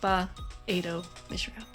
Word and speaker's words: Ba-Ado-Mishram: I'll also call her Bam, because I can't pronounce it. You gotta break it up into the small pieces. Nope. Ba-Ado-Mishram.